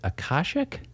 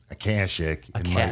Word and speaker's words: Akashic: can do on this podcast is help me pronounce the name of your publishing house who's putting out this book. Is it Akashic? You know, I think they answer to anything. I tend to call them Akashic in my Midwestern nasally way, but they definitely